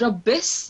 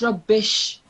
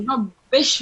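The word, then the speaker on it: رَبِّ اشْرَحْ: The only thing is that's not rabbis, that's rubbish. That's just sheen here, the sh sound here. So rabbish rahli sadri.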